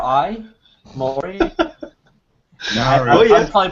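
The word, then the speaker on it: Māori: a o r i Mai I'm probably pronouncing that wrong uh oh yeah you're quite correct um since I am a New Zealander Maui is how you pronounce it yes anyway M that's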